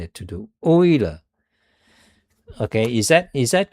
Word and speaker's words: Euler: You see, by the way, that's called Euler. I think that's pronounced Euler, the guy's name. Swiss mathematician, Leonhard Euler. But usually I like to pronounce it Euler because that's how English pronounce it, Euler.